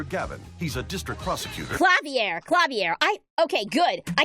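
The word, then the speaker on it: Klavier: rival is clavier Gavin he's a district prosecutor clavier clavier I okay good I can get the pronunciation of this one right away clavier I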